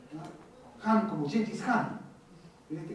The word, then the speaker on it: Khan: El gran Khan, se pronuncia Han, una KH, Han, ¿no? Han como Gengis Khan.